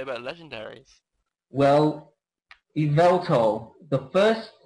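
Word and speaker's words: Yveltal: like it's not just evil to it's Evel to like because that Vel is kind of meant to be the main particle its name yeah but surprisingly it sounds like the word evil yeah and also this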